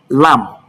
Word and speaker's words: lamb: I need you to understand that it is the sound that comes before the B or after the B that is pronounced.